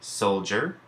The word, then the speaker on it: soldier: It can represent T as in jumped, and J as in soldier, and J as part of the digraph DG.